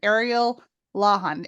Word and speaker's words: Ariel Lawhon: Jane Healey and in today's episode we welcome Ariel lahan am I pronouncing that right yes you did it perfectly